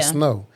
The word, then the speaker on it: SNOW: because you got So it's normally spelled like this. service and then N O is capitalized. So you say snow instead of saying service now.